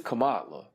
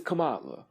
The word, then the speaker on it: Kamala: Kamala Kamala Kamala no because it's Kamala it's Kamala how been how I be want to say it yeah it's Kamala Cala yeah I'm sorry